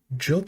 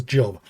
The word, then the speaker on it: Job: It is pronounced Job. Okay. I had a feeling it was Job cuz I do remember hearing that in reference in some of the Bible verses, but I read that as Job.